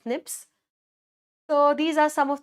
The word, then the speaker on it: SNP: We pronounce that as SNIPS.